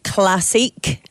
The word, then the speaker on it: Classique: So yeah, we had RideLondon Classique, as it should be pronounced, because they go with a French spelling, bizarrely.